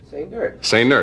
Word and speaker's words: Sainert: Now, why do you say the accent is on the last syllable? He likes it that way. Say nerd. It's like say nurse, only say nerd.